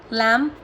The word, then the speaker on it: lamb: Bomb, climb, calm, crumb, debt, lamb, doubt, lamb, limb, subtle. Got it? समझे? M के बाद में और T से पहले तो बी जो होता है वो साइलेंट हो जाता है।